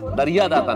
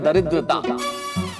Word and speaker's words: दरिद्रता: दरिया दाता नहीं, इस शब्द का उच्चारण है दरिद्रता। दरिद्रता का मतलब है गरीबी।